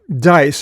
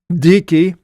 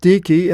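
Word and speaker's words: Dike: but uh now it talks about dicki now dice it looks in in the English but it's actually dicki and pronounced dicki and dicki was a daughter of Zeus and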